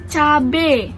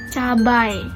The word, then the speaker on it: cabai: Terus tuh cabe. Ini lagi cabe, padahal yang benar tuh cabai. Kalimat kata bakunya tuh cabai bukan cabe.